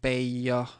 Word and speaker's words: Bayer: So, um I would go with baya if you're trying to find what's more most what's uh most uh what do you call it the most correct pronunciation even though personally I always say bear but that's uh it might be wrong.